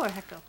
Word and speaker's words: hecho: one of the hecho echo echo echo I think the H is silent HECO in Mexico yeah